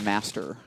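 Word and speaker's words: Мастер: And Maktep is how it's spelled, but in Russian I believe it's actually pronounced Master.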